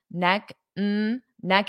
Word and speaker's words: neck and neck: and neck and neck so when we have noun and noun and they're together as a phrase we pronounce and as so we reduce that sound but you also have to pronounce it as one word so I can't say neck neck that doesn't sound correct so you need to say it as one word neck and neck neck n neck and neck and neck